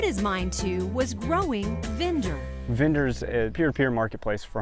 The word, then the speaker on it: Vinder: It's called Vinder, rhymes with Tinder, and it hooks people up with fresh veggies.